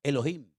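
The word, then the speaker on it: אֱלֹהִים: Y el primer nombre que conocemos de Dios, si empezamos a leer la Biblia desde el principio, es un nombre que se pronuncia Elohim.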